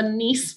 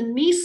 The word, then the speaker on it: Nice: late heavy bombardment is what we call the NEASE model. That is spelled correctly. It is spelled like that. So the NEASE model was proposed back in, it's from Nice, France.